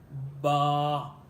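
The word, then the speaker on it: باء: Ba. You connect of your both lips and then you pronounce of this letter ba.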